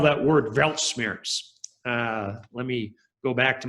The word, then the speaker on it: Weltschmerz: Somebody said, please spell that word Weltschmerz.